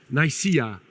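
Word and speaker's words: Nicaea: And I don't know if you heard of the uh town called uh the pronunciation is Nika.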